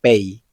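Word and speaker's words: פ: P, también conocida como Pei. Esta letra tiene dos formas de pronunciarse. En algunas palabras suena exactamente como una P, pero en otras palabras se pronuncia como una F.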